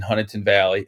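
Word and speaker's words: Huntingdon Valley: And it's Huntington, not Dunn. I know everybody, you and Keith, like to make fun of my town that I am in. It's spelled with a D, Bill. It is. I agree, but that's not how they pronounce it, or at least not that.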